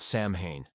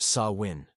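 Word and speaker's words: Samhain: Halloween began more than 2,000 years ago with an ancient Celtic festival called Sam Hayne, pronounced sawin.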